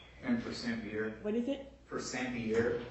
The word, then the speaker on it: Persampiere: I don't know how you pronounce it. And Persampiere. What is it? Persampiere. Persampiere.